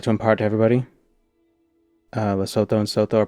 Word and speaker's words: Lesotho: Lesotho and Soto are pronounced Lesotho and not Lesotho.